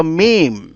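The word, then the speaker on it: ميم: আর মিম উচ্চারিত হয় ঠোঁটের বাইরের শুকনো অংশ থেকে। এই যে যে ঠোঁটগুলা, ঠোঁটের যে অংশটুকু শুকনো থাকে, এই শুকনো অংশ থেকে উচ্চারণ করো মিম।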